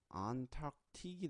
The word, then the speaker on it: Antarctic: 되는데 그게 합쳐져서 예, 안타틱이 됩니다. 안타틱. 그래서 소리를 어떻게 가져가느냐? 안 플러스 탁 플러스 틱 이렇게 가져갑니다. 발음을 그래서 안 있고 talk 엄마 talk C 빠졌네요. talk 네 그리고 틱 이렇게 들어갑니다. 안타틱.